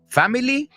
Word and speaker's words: family: ¿Family? No. Family. Es dos sílabas.